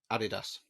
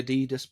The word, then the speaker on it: Adidas: uh Adolf dassler and his name was shortened to Addie for Adolf and dasler to das so Adidas it's almost like we've had this conversation so all of America is wrong but it's okay there's only 10.